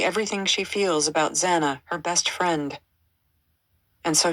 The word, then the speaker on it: Xana: She tells the story of Zana introducing herself to the Pifi, explaining that her name is pronounced Xanax without the X.